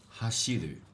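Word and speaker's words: 走る: But, if it's like used as a verb, okay? As a verb, it's another it's another pronunciation, so. Sorry. It'd become hashiru. Okay? That also means to run. Just add a lu at the end, and the pronunciation change. One is so, the other is hashiru.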